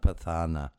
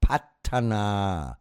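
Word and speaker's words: Paṭṭhāna: It's not pathana. It's called patana. So it would be like pat. P a t. An English a. Northern a. Not a southern one. Pat. Yeah. As in hat. Yeah. And aa. So it would be p a double t.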